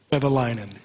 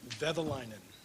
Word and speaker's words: Vehviläinen: Vehviläinen. How do you say it? Vehviläinen.